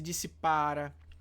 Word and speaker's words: dissipara: Se dissipara. Então vejam que a sílaba tônica, ó, dissipara, a sílaba tônica está aqui.